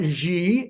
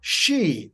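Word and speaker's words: Xi: said don't you know it's not X and it's not Z you know it is she like an sh looked it up they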